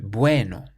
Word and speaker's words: bueno: For example, bueno means good. We say bueno. Not bueno, but bueno. We stress the bue part, bueno.